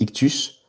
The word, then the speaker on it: ΙΧΘΥΣ: Le symbole ictus, donc c'est comme ça que ça se prononce he donc en fait c'est ictus signifiant poisson et l'un